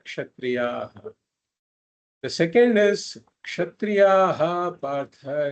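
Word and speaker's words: क्षत्रियः: So before a Ksha, if there is a Visarga, then we pronounce that Visarga fully. That's a rule. Sukhinaha kshatriyaha, we should say.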